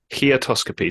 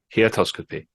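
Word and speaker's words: heautoscopy: how you pronounce this heotoscopy so h e in an autoscopy he atoscopy is the encounter with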